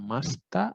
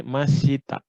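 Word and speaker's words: ました: Nah, terutama di sini hati-hati. Karena banyak siswa sendiri itu bilang di sini masita.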